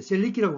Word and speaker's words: Selic: 자, 이걸 해석해 보면은 이제 셀릭은 이제 셀릭이라고 보통 발음하는데 기준금리를 뜻합니다.